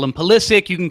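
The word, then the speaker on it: Pulisic: you can call him psic you can call him his his name really should be pronounced pich but he wants to be called psic so we're gonna call him psic so with that being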